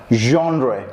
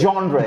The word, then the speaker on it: genre: Genre. Genre. Is it an English word? Well, it's not. It's not. It's a French word.